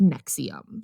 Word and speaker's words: NXIVM: But it is NXIVM, and it's pronounced NXIVM.